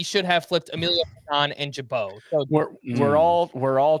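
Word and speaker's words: Gibaut: It's Ian Jabau. spelled G I B A U- T. You don't need to know how it's spelled.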